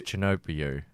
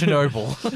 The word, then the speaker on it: Chernobyl: Because Chinobio. Chernobyl. You're making me say it wrong, like Chinobio. It's Chernobyl.